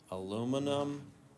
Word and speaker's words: aluminum: Aluminum oxide, or it might be called aluminium oxide. How is it pronounced?